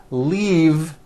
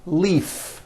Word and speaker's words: leave: glove alive and leave this last word leave is very different from the word Leaf like from a tree which has an unvoiced F the word is leave with a voiced V keep the voicing